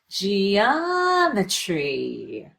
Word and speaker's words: geometry: So exaggerate this syllable, rush through this syllable, and linger here for a little bit, but be sure to find that change in pitch. Geometry.